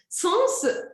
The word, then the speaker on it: sens: prono sens très bien sens je prononce le s est une exception en général je ne